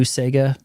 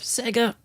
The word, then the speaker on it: Sega: At the very beginning, he's talking about Sega and uses the Wong, you know, the new Sega, instead of Sega.